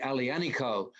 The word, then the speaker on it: aglianico: a wine made from the variety alianiko which is spelled aglianico a-g-l-i-a anyway um i looked up